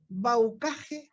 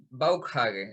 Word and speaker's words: Bauckhage: ¿Baucaje o Baucash? ¿Cómo te llamo? Ninguna de ambas. En realidad se pronuncia Baukhage, es alemán.